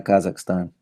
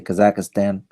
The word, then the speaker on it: Kazakhstan: exact a standing a Kazakhstan or like you Americans you're you know you vote in United States a Kazakh Stan we say Kazakhstan however you want to pronounce it is the same thing wanna come on his